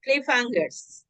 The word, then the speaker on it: cliffhangers: pronuncia cliffhangers. Cliffhanger. Cliffhangers. Cliffhangers.